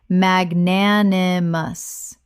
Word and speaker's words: magnanimous: Correct pronunciation, magnanimous. Four syllables with the stress on the second, meaning generous or forgiving.